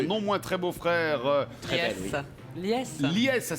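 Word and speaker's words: Lyes: Lies. Lies, ça s'écrit L-I-E-S L-Y-E-S.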